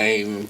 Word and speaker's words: Ieen: And we started off with I Ain't Impressed. And it's spelled I-E-E-N.